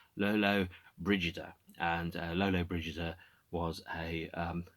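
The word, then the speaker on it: Lollobrigida: talked about yesterday i understand this is actually pronounced lolo brigida and lolo bridges was a italian film actress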